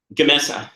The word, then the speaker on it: Gamesa: dispute with GE, and how do you pronounce it? Gamesa? Yeah, Gamesa.